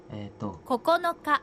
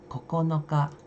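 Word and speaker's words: ここのか: 7 8 9 10 memang cara bacanya 1 sampai 10 itu kan I Nyi si go Roke Nana haci k itu kalau angka Tapi kalau dalam kalau tanggal itu berbeda lagi keseluruhan memang bahasa Jepang ya uniknya di sana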